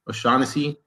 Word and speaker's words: O'Shaughnessy: Am I pronouncing that right? Yeah, James O'Shaughnessy.